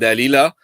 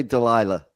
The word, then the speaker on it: Dalila: So it's the story of Samson and Dalila. Maybe in English it's Delia. Yeah, we say Delilah. Yeah, because I keep the Latin pronunciation.